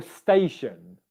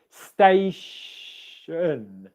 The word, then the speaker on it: station: And then you're just left with the un for the final syllable. The same goes for station, okay? Station, station, station.